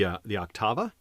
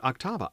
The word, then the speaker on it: Octava: But the next one was the Octava. And I learned from watching other people's videos that most people pronounce it Octava. I had always said it Octava. I think I've been pronouncing it wrong.